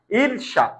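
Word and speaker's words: ঈর্ষা: হরিমন্তি এখানে দীর্ঘকার হবে এখন ঈর্শা ঈর্শার ক্ষেত্রে লক্ষ করো ঈর্শা কি ছিল এইরকম ঈর্শা ছিল এইরকম রাইট এখন এখানে অনেকগুলো নিয়ম কেটেছে লক্ষ কর দীর্ঘকারটা কিকার হবে বলতো রসকার রে অল উচ্চারণ হবে আর মূর্ধ সবসময় উচ্চারণের তালব বসা হবে তাহলে তিন চারটা কাজ করেছে ইরশা ওকে লক্ষ কর তাহলে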